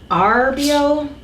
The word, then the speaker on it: Arborio: 2 cups of arborio. Hold on. Arborio. Roll your R.